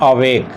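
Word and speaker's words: awake: तो अवेक जो वर्ड है इसको हम दो उच्चारण खंडों में बांटते हैं, अवेक। समझिए इस बात को। तो अ आपका हो गया है अनस्ट्रेस्ड और वेक आपका स्ट्रेस देना पड़ता है, बोलते समय हमें जोड़ लगाना पड़ता है, तो ये आपका स्ट्रेट सिंबल हो गया।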